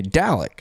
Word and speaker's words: Dalek: Okay, Dalek. There you go. Somewhat like Dallas.